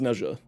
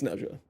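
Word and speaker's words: Nezha: Leavarium uh pronounces Neesha's name as Nea. So, that is what I go by. And until someone at Digital Extremes corrects it either in game or to me personally, it's Nea.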